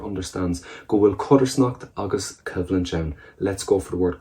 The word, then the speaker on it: Cibhlann: Go will Colscaradh agus Cibhlann. Let's go for the word Colscaradh. We know as contrast. What about the word Cibhlann? that V pronunciation in the middle of it, civlinch, conflict.